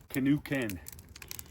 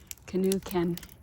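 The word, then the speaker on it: K'esugi Ken: Oh, um, canoe ken. Canoe ken.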